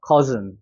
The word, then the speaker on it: cousin: 그럼 여기는 커고 여기는 즌이 되는 거예요. cousin.